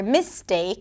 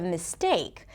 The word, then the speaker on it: mistake: less clear and then they may say engineer instead of engineer or mistake instead of mistake or financial instead of financial.